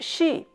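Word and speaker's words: 席: The word “sail” here is pronounced, "Xi."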